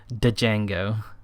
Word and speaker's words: Django: You know the name is pronounced Django, but you will forever mispronounce. Don't tell me you pronounce the D. Django.